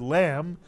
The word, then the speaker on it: lamb: And even though we don't pronounce the letter B in the word lamb, we can't drop the B. It's how the word lamb is spelled.